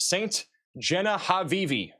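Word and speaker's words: Ste. Genevieve: Max, it's pronounced Saint Genevieve.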